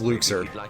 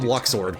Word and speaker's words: Luxord: That's L uh pardon me, his name's pronounced Luxer. I almost called him Luxord, but that's Hey, that's like 2006 pronunciation is Luxer.